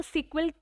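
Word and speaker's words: SQL: इसको सिक्वल pronounce करेंगे एज I mentioned here, ठीक है, जिसका फुल फॉर्म है स्ट्रक्चर्ड क्वेरी लैंग्वेज, ठीक है।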